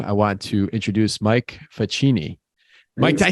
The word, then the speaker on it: Facchini: without further Ado I want to introduce Mike faccini Mike did I say your name wrong it's perfect well in America it's the genie in in the uh Old Country it's yeah usually uh we we asked to confirm